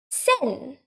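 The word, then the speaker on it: 千: a help of that one thousand is sen sen a single term also one point that you should note is that when you say one thousand n we don't say it n we don't add one basically sin itself means one thousand it includes the one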